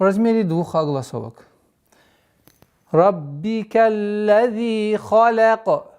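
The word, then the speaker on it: خلق: Раббика лази халяка. Ха твердый звук, лям мягкий звук, каф твердый. И поэтому нужно обращать внимание, чтобы халяка. Нет. Халяка. Халяка.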